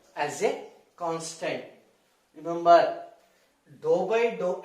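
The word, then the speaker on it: ∂: It is not d. Spell as dou.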